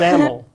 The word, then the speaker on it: XAML: Is it pronounced XAML, XAML, or XAML? Seth, we've talked about this. Yeah. It's XAML.